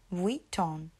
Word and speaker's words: Vuitton: So you want to add the W in there when you say Louis Vuitton.